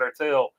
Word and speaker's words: ERTL: I think you pronounce it Ertel.